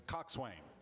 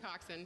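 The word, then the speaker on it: coxswain: the way we uh it's Cox Wayan that's a person who steers a boat or racing shell or has charge of its crew now it says here coxen but I think it's Cox way coxen coxen oh she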